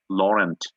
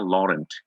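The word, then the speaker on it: Laurent: যেমন আ আমি একটা আমার বইয়ে একটা লিখায় রেখেছিলাম মিশেল লরেন্ট, এরকম লিখা আরকি, হ্যাঁ? লরেন্ট। কিন্তু লরেন্টকে ফরাসিরা উচ্চারণ করে লরা। ওকে? তারা বলবে মিশেল লরা।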